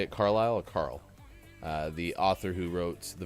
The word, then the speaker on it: Carle: I thought it was Carlisle, but now it's like Carle. That's probably not Carlisle. So, but died yesterday, Carl. 91. Probably just Carl. Okay, Eric Carl. We'll go with that.